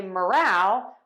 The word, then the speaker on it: morale: a word stress lesson so to say moral which means standards of behavior we are going to stress syllable number one and to say morale which is enthusiasm of a group we are going to stress syllable number two so we have moral